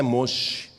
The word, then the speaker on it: Moshe: Em hebraico o nome de Moisés é Moshe. E o nome de Deus é impronunciável.